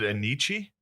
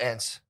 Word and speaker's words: Enyce: Was it Anichi? ENYC Yeah, Isn't that how you pronounce it? Yeah, I used to call it ENCE. But I think it's Anishi.